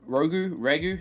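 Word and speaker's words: ragù: Beef ragu. How do you say it? Ragu? Ragu. That's the one.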